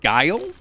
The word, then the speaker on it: guile: is it just guilt with eight walls it's guile this is guile what does guile mean no